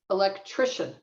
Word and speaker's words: electrician: the the stress shifts moves from the second syllable to the third one electrician so um you know